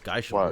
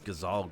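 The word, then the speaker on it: Gysahl: I thought it was Geishel greens, but apparently it's Gazal greens.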